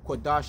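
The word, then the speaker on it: Qadash: Kodash is spelled Q-A-D-A-S-H, which is holy, all right.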